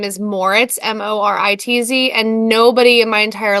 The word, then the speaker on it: Moritz: They would say Mortiz or Moris, like Morris. I had never got the Z, but it's okay.